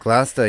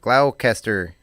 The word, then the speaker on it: Gloucester: Massachusetts uh and I didn't know it was pronounced Gloucester glasta yeah it's it's spelled Gloucester glaucaster Cloud Chester yeah yeah how would you oh